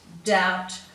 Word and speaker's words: doubt: in the following ones we have a silent b so you'll find it very difficult to pronounce that b um that's why it's become silent over time so we've got debt doubt subtle succumb and then